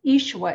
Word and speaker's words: Ishua: as i was sharing ishua is the aramaic pronunciation of jesus and i couldn't believe